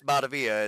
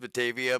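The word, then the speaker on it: Batavia: the uh if anybody doesn't know, it's definitely pronounced Betavia, but all the locals love it when you call it Bavilla when you get off the exit.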